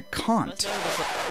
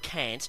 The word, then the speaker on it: Kant: is a reference to kant yes that's right that's how you pronounce it not can't not can't not jones but it's a german name and i'm quite happy